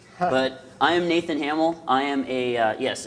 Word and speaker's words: Hamiel: but I am Nathan Hamill I am a yes it's pronounced Hamill I'm a principal consultant